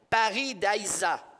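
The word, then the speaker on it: pairidaēza: paradis c'est un endroit le mot paradis nous vient du mot persan et excusez mon persan là mais en tout cas moi je le prononcerai là comme étant Paris Daiza ce qui signifie un jardin clôturé et c'est intéressant lorsqu'on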